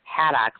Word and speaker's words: Haddock: It's actually Alexa Haddock, like the fish, Bigwarfe.